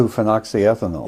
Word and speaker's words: 2-phenoxyethanol: How do you pronounce it? 2-phenoxyethanol.